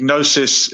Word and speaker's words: gnosis: or knowledge okay so when we write knowledge with a silent k the gnosis has a silent g is that uh from